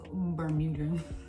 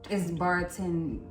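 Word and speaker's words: Bartenura: I think it's pronounced Bermuda, but it's Bartenera.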